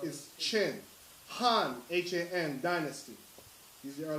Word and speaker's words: Qin: Shia, Xia, Shang, Shang, Zhao, Zhou, Qin, Qin, is pronounced is Qin, Han, Han dynasty.